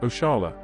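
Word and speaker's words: oxalá: Another example is the expression Oksala, pronounced Oshala, derived from the Arabic Insha Allah.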